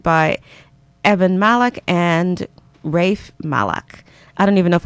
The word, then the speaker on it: Malach: this play directed by Evan Malach and Rafe Malach. I don't even know if I'm pronouncing this right, so let me just give